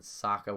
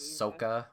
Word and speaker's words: Sokka: They had the weirdest pronunciations of names. It was not Aang, it was Ong. And Sokka was Soka or something like that.